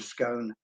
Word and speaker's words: scone: For a scone, or scone as we pronounce it, and a boiled